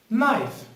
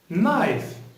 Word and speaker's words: knife: with the first word knife knife pay attention k the letter k here is a silent letter so we do not pronounce it we just say knife knife great the second word